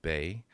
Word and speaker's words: Bai: Uh, my name is Daniel Bay, pronounced Bay.